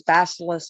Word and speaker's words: Bacillus: And it is called, and I don't know how to pronounce it. I'm going to call it bacillus.